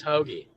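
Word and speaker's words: Hoge: I'm sure a lot of people had Tom Hogue or Hoagie. I don't even know how to say his name. Ooh, I think it's Hoagie. Hoagie.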